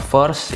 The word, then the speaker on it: VEARST: Yoi, jadi ini dia ya untuk penampakan packaging dari First. Ini bacanya gimana ya? First ini ya, untuk ejaannya V-E-A-R-S-T, ST aja tapi nggak pakai 12 ya John.